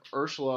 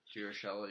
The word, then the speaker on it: Urshela: I mean, then we also have Ursula on the bench. Urshela, yeah. Urshela, sorry. I always mispronounce that.